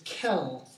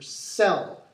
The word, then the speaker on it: cell: we use the C you might think that it's Kell but no in this case the C as we've noted in the past sometimes has the S sound for cell so these the cells